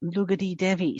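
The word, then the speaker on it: Lugdi Devi: No, it's actually spelled like Lugdi. But when because I try and be very respectful of people's cultures, and I like to pronounce the words as correctly as I can. So when I actually looked it up, it is actually said Lugadi Devi.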